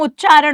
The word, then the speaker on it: उच्चारण: पर आपको बोलता है, फिर आया हुआ प्रश्न, उत तारण। ठीक है, तो आप तेज मत बोलो मैडम, उच्चारण होगा। नियम समझो, प्रथम पद के अंत में क्या आ जाए, त आ जाए, उसके सामने क्या आ जाए, च आ जाए, इसीलिए ये त बदलेगा किसमें, च में।